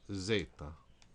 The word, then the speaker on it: zeta: and v is boo or V Z is Zeta all right this time let's just say the